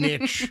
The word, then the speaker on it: niche: Niche rhymes with bitch.